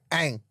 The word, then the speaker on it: Aang: Aang, sorry. That's one name I can pronounce.